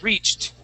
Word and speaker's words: reached: called excellent okay now when a word ends with a CH just like this instead of saying reached the word is reached reached good yes that that e d makes a t sound okay um here we